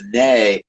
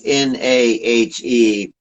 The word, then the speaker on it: Nahe: my portfolio called the Nahe. That's Nahe. You got the little umlauts above the A, which you pronounce it Nahe instead of Na.